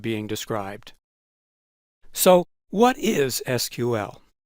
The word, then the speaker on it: SQL: calling their language sql officially the languages pronounced sql but the ibm people were accustomed to calling it sql and they continued to do so as use of the language spread throughout the database industry the sql pronunciation spread too today about half the people call it sql and the other half